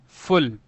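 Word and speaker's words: full: यहां पर you silent नहीं होता है। अगर होता एफ यू एल कोई वर्ड होता तो ये फल पढ़ा जाता है। फिर यू साइलेंट हो जाता। लेकिन यहां पे डबल एल है तो ये क्या बन गया? फुल बन गया।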